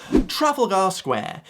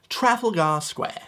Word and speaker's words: Trafalgar Square: to get this right, but I'm here to pronounce it correctly for you. Trafalgar Square. It's where you can find Nelson's column. There's a nice museum there. Trafalgar Square.